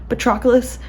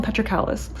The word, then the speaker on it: Patroclus: for me to remember patroclus patroclus okay I used to call him petrocalis which is now that I think about a horrible pronunciation so yeah he told